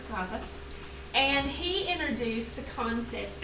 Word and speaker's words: Lao Tzu: Alright, not loser, Lao Tzu.